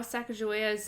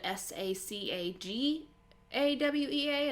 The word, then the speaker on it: Sacagawea: it's actually disputed how sacagawea's name is spelt some people think that it's spelled s-a-c-a-g-a-w-e-a and some people switch the g with the j um also it's uh debated if it's sacagawea or sacagawea oh another fun fact